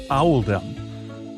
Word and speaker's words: Oldham: This choice was made to reflect the pronunciation of Oldham in the local accent, which is Owldom.